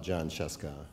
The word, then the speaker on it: Jon Scieszka: It's just like it looks. It's John. The H is silent and invisible, though.